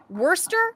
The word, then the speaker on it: Worcester: Now, do we pronounce this Worcester or Worcester? It's neither. It's actually, I happen to know this. Worcester. Worcester. Worcester, Massachusetts. I forgot. I have a friend from Worcester. Worcester. It's Worcester. Yeah.